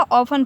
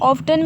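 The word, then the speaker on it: often: देखें इसे क्या पड़ जाएगा, ऑफन पड़ जाएगा, टी जो है हमारा क्या रहेगा, साइलेंट रहेगा। इसे कहीं कहीं लोग ऑफ्टन भी यूज़ करते हैं, ऑफ्टन भी गलत नहीं होता है बट ऑफन कहें तो ज़्यादा ही बेहतर होगा, ऑफन।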